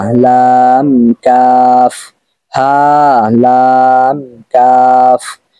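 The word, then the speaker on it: ح: রয়েছে হা লাম কাফ হা লাম কাফ হা লাম কাফ এখানে যে হা টা রয়েছে এই হা টা হ লক্ক তথা কণ্ঠনালীর শুরু থেকে হবে এখানে আপনি হা এরকম বললে কিন্তু এটা ভুল হবে আর কণ্ঠনালী যদি আপনারা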